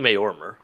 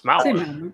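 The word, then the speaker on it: Maormer: Why are you saying Mayormer? That's how it's spelled. Yeah, but we hear it pronounced in ESO. It's Malware. Yeah.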